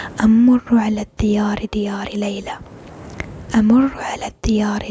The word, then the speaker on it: الديار: أمر على الديار أمر على الديار أمر على الديار أمر على أمر على الديار الديار. You pronounce a little bit more deeply in the d.